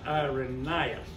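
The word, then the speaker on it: Irenaeus: that really you pronounced when youever you see an AE like that in Latin that's not AE that's I so it's IRAs and he lived uh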